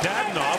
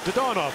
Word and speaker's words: Dadonov: blocked by Evgeny Dadonov, who's asked that his name be pronounced the more traditional Russian way rather than Dadonov, which is what he had to say when he was in Florida and Ottawa.